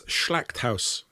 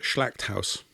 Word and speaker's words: Schlachthaus: It's Schlachthaus. I hope I didn't muller that. But that's for slaughterhouse, Schlachthaus.